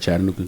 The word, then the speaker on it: Chattanooga: Am I saying it right, Chattanooga? Yep. Chattanooga. Yes, you are.